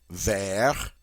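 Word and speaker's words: vert: for green which is there notice the final T in the masculine is silent as many final consonants are in French words there but the minute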